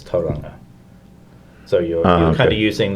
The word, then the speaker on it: Tauranga: Most people, like at schools, we teach like the Māori pronunciation. So, that's just what we do. Like it's not Tauranga, it's Tauranga.